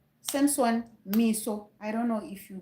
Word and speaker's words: Meso: It is Kwatamisha Samson Miso.